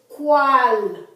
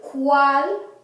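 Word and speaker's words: cuál: And the U is pronounced as almost like our W. Wa. So this is cual. Cuantos. You don't say cual. You don't say cuantos. You say cual.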